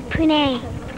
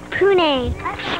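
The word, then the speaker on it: Puneh: Pune. Pune. Spell it.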